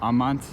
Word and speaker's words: amant: And in Latin, that word amant, that would be on the second to last syllable, amant.